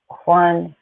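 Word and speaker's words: Whanganui: And it's pronounced Wanganui, also spelled Wanganui.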